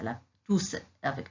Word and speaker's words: tous: Tous avec S à la fin, au masculin pluriel. Le S final s'entend à l'oral. On dit tous.